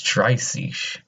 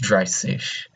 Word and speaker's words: dreißig: 30 is dreißig. So don't be afraid whenever you see that weird looking B. Think of it as just two S's. So it's just dreißig.